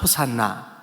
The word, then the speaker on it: 호산나: 호 시아 호시 아 그래 붙여서 발음하면 혹시 않나 호시 않아 호산나 이렇게 되는 거예요 기 우리말로 호 시아가